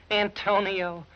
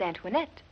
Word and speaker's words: Antoinette: yeah he kept saying Antonio I need you Antonio who's that ain't that you my name is Antoinette oh that's what he said well he pronounces very bad when he's Delirious we thought you might